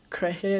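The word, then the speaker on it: Kehrer: If I'm not wrong, his name is pronounced Krehe as well.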